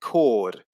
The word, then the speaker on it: chord: we can also see a similar effect with a silent h in words like character and chord so the words are pronounced as if the h doesn't exist in both cases but